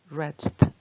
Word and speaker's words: wretched: wretched, wretched. W 발음할 때 입을 많이 오므리셔야 돼요. wretched.